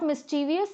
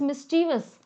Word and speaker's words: mischievous: C are incorrect guys the pronunciation is not mischievous so people who are saying option C option C is incorrect and option b is also incorrect why because it is not mischievous it is mischievous I have been repeating